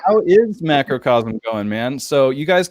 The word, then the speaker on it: Macrocosm: you're here please clear it up for us macrocosm am i saying that right that's actually correct yeah i've never had anyone really mispronounce it so that's that's i get oh